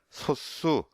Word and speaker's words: 소수: 소화하고 수의 한자와 사이에 사이 coc 쓰지는 않지만 발음의 는 이렇게 영향을 미쳐서 소 쑤 쑤 우 수 이렇게 소스 수 이렇게 발음이 되구요 또 많이 우리 쓰는